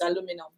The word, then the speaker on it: aluminium: So that's how we found out that it's not important. aluminium, it's aluminum. Aluminum, yeah. Yeah, so my husband says mature, and I'm like, who says mature?